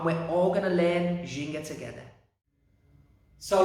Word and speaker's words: ginga: So everyone say Jin, and everyone say Ga. Jin, Ga. Ginga. Ginga. Yeah, really good.